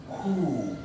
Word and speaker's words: who: Donc lorsqu'un mot commence par WH, si c'est la lettre O qui suit directement, alors c'est le W qui sera muet, qui ne sera pas présent dans la phonétique, qui ne se prononcera pas, mais le H sera plutôt présent. Voilà, comme dans cet exemple, on dit who.